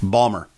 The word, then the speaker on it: Baltimore: family around the table okay pronounce that word and they're like Balmer and it's like down